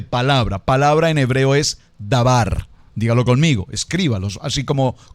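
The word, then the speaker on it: דבר: al contexto de palabra palabra en hebreo es dabar dígalo conmigo escríbalos así como como se pronuncia palabra en hebreo es dabar y la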